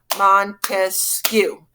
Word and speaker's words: Montesquieu: Locke life liberty land now we have Montesquieu three syllables I know don't laugh